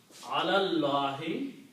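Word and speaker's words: عَلَى اللهِ: So the word will be pronounced alallahi, this alif is not pronounced, upon Allah, or regarding Allah, or about Allah.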